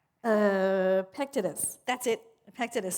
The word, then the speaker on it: Epictetus: I cannot pronounce his name. Epictetus, that's it.